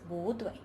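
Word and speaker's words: 不对: When bu is followed by a syllable in the first tone, it changes into the second tone, bu. For example, bu dui becomes bu dui.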